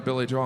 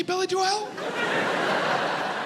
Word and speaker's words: Billy Joel: started going through every conversation i had on billy joel i'm like did anyone else say billy joelle when i said billy joel did anyone look